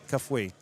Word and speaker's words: Kafui: Kafui, we just heard the the pronunciation. I missed the I. Kafui.